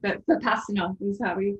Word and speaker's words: Vipassana: Is it Vipassana? Is I pronounced that correctly? Or they say it with a sh in Vipassana.